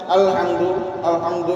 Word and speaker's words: الحمد: সেই জায়গায় আপনি যদি নর্মাল রাখেন আলহামদু এরকম নর্মাল রাখেন, তাহলে কিন্তু উচ্চারণ সুন্দর হবে না। এই যে হাম হা এবং মিম একসাথে ধরতেছেন, শক্তভাবে ধরতে হবে এবং হাটাও শক্তভাবে আদায় করতে হবে।